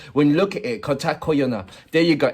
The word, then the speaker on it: কথা কইও: The pronunciation is Kotha Koiyo.